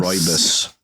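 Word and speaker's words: Rooibos: Is that the one that's spelled Rubios? Yeah. Yeah, rude I just boy. call it Or Rubios. Roibus.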